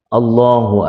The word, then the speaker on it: Allah: bisa dianggap tahu bahwa lafadz Allah itu semuanya dibacanya dengan panjang Allahnya tidak dibaca dengan pendek demikian itu apa namanya bacaannya Kapan Allahu Akbar Allahu Akbar tapi kalau kita mengikuti bilalnya